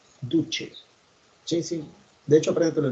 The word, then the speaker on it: duce: En italiano la C se pronuncia como che, duce.